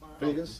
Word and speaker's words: Pegues: How you pronounce that? Pegas? Pegues.